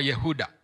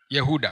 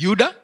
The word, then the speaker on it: Yehuda: Ah Yuda Iscariot au tuseme Yuda jina lake eh kwa kihebrania au kwa lugha yao linatamkwa Yehuda. Yehuda kwa kirania inatamkwa Yehuda. Lakini sisi katika kiswahili tunaliita eh Yuda.